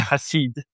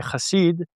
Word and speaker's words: Hassid: Everyone's saying it wrong, and it's okay. I got used to it now. Yeah, Hassid. In English, Hassid. it's not. It's Hassid. In Hebrew, you say Hassid. French say it differently.